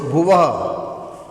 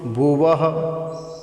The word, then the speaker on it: भुवः: फिर भूर, ये जो भू है इसके ऊपर र है तो भूर भुवः, भूर भुवः। विसर्ग है, इसका उच्चारण ह के रूप में होता है, इसलिए बोलेंगे वह वह।